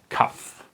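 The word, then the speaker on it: כף: Kaf. This is how it looks like, and it's pronounced like K, okay? Like a C. I can do it. Okay, the can, the K.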